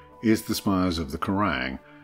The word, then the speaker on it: Quiraing: the spires of the karang pronounced like the metal music channel and magazine as well as the